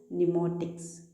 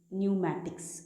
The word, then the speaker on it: pneumatics: PNEUMATICS, न्यूमोटिक्स, न्यूमैटिक्स, आई am sorry, न्यूमैटिक्स।